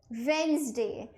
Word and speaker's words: Wednesday: It is Wednesday. So जो D होता है बेटा, वो यहाँ पे साइलेंट होता है। डी को आप प्रोनाउंस नहीं करेंगे, इट is kind of silent आप कह सकते हैं।